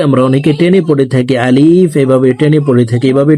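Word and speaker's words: ألف: আলিফ এভাবে টেনে পড়ে থাকি। এভাবে টেনে পড়া যাবে না। আলিফ হরফকে তাড়াতাড়ি করে উচ্চারণ করব।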